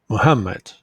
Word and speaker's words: Muhammad: you can easily see this word has three syllables and the second syllable is stressed Muhammad so word stress is